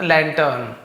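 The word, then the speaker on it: lantern: द लैंटर्न ऑन the hill, the लैंटर्न है, लैंटर्न लिखा हुआ है तो आर थोड़ा साइलेंट, जैसे डॉक्टर टीचर तो थोड़ा सा आर साइलेंट जैसे लैंटर्न।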